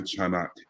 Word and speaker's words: Chanak: is KHAK the sea is silent um I am the founder and CEO of chanak International um and I